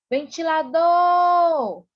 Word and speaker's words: ventilador: Qual foi a sílaba mais intensa? Foi o tó. Ventilador!